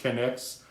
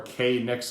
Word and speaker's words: Knicks Go: go by the way it is pronounced connex or k nix go has no association at all with the new york knicks of the nba you can read the